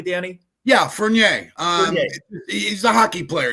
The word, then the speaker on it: Furnier: Furnier is Am I pronouncing it correctly, Danny? Yeah, Furnier. Um he's a hockey player. You don't pronounce the second R. Furnier.